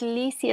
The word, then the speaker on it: Lisi: Claro que sí, mi nombre es Lizzy, se escribe Lisi.